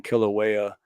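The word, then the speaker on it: Kilauea: I know but yeah it's kill and then the U is like a w and then kill a waya but all right so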